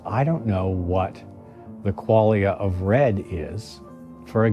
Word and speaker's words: qualia: I want to talk about a couple more things because I recently ran across the word qualia. It sounds like the word quality, right? Or qualified.